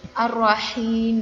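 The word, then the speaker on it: الرحيم: Nah, ini H besar, kemudian Ar-Rah, H kecil, Ar-Rahim juga H kecil.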